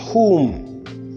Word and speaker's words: whom: WH in these following words are to be pronounced as who and not we. So we said who and not who. We say whose, whole, and whom.